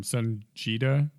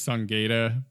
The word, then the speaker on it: Sunjita: Sunjita. Yes. Because I used to think it was Sungata, but then I realized it's like a DBZ reference.